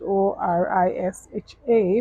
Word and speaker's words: Oriṣa: if aspirationality right orisha it's spelled o-r-i-s-a some people spell it o r i s h a but your best friend is o-r-i-s-a orisha in IFA spirituality in